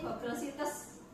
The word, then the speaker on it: Google Sites: Kalau tulisannya ini Google Sites, tapi kita membacanya Google Site, nonton baik ya.